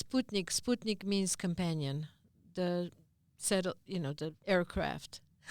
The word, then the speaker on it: Sputnik: So perestroika has become an international word, just like Sputnik, which is mispronounced as Sputnik, but it's Sputnik.